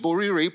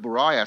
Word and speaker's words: Borire: And of course, my name, Borire, people would sometimes pronounce it Boraya, so they think it's a French name.